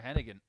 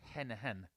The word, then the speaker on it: Hennigan: a talent he is i said hennigan it's henna hen my friend andy and dublin i'll have my guts for god as if i keep pronouncing the g in that name 121.